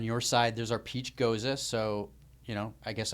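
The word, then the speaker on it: Gose: Like, almost feel like do you pronounce this goza? Goza. Okay, I thought it was ghost for the longest time. I'm so glad you corrected me.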